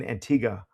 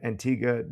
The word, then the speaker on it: Antigua: Yes, I was in Antigga, which I just learned how to pronounce before the trip. So, Eastern Caribbean, Antigga, doing a really the unique project related location scout that we can talk about it.